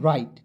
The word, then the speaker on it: write: वराइट नहीं पढ़ना है, इसे पढ़ना है दोस्तों राइट। ठीक है? अब कहिएगा सर राइट कैसे पढ़ेंगे, सारा कुछ मैं बता रहा हूँ, बिल्कुल ध्यान से देखेंगे। देखेंगे W को पहले साइलेंट कीजिएगा, R का र लिख